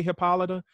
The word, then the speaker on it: Hippolyta: it is plays um hippolyta i say hippolyta but they say hippolyta in the show as his wife and